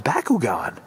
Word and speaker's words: Bakugan: It's Bakugan.